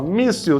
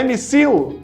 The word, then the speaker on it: míssil: Ó, míssil termina com il? Termina com il. Mas é missil? Não, é míssil, ou seja, é paroxítona, é a penúltima sílaba forte.